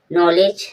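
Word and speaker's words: knowledge: नॉलेज नॉलेज में देखो वही है। डी के बाद जब जी आया तब डी साइलेंट रहेगा। डी का सामने नहीं बोला जाएगा।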